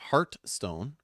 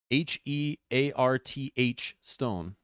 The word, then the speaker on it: Hearthstone: but it's not like it's not heart stone h-e-a-r-t-h stone hearthstone i don't know this is